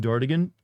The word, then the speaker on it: Dartigan: It's pronounced Dartigan. Dartigan. So yes, not Dartigan. I've never heard anyone pronounce it as Dartigan, actually. It's based off the French name D'Artagnan from the Three Musketeers, only Americanized.